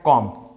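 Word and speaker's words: comb: दूसरा हम शब्द लिए हैं कॉम्ब। वो भैया कॉम्ब पढ़, कॉम्ब नहीं बबुआ। यहाँ पे जो बी है वो साइलेंट होता है।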